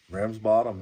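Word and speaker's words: Ramsbottom: from a place called rum's bottom how do I pronounce that Ram's bottom Ram's bottom okay just want to make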